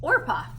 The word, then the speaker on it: Orpah: I wrote it down because I want to say Oprah, and it's not Oprah. It's Orpah. Orpah.